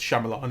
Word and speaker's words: Shyamalan: And I'm pretty sure it's Shyamalan as we've been saying it.